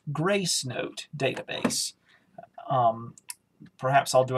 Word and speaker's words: Gracenote: successfully sent to the grasanote media database ok button to activate press spacebar and jaws is mispronouncing that but it's actually pronounced gracenote database um perhaps i'll